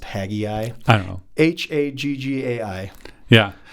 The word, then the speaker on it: Haggai: about the temple Zachariah question why is it pronounced haggai I don't know h-a-g-g-a-i yeah you know what I've never but I've always heard it pronounced Tagai yeah I've never actually looked up the original